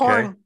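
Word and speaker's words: Chorn: So you say it's C-H-O-R-N? I'm not sure how to pronounce it. Yeah. Crone? They're in New Brighton. Okay. Corn. Corn.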